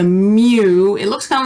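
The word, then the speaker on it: μ: that x bar and this one is a lowercase greek m it's a mu it looks kind of like a u is supposed to be a lowercase m so it's a mu it's short for mean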